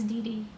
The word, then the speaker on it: DxD: Is High School DxD pronounced High School DD? Yes, it's DD.